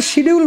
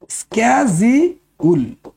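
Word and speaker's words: schedule: হয় সিআরপিসির সেকেন্ড স্ক্যাউল এটা ভুল করে শিডিউল বলে মানুষ আসল উচ্চারণ হবে সেকেন্ড সেকেন্ড স্ক্যাউল স্ক্যাজিউল শিডিউল নয় ভুল করে আজকের পর থেকে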